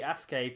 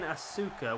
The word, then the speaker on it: Asuka: So essentially, you're saying Asuka, which is how it's spelt, but you're just missing the U out really. So it's Asuka. You're just saying it really quickly.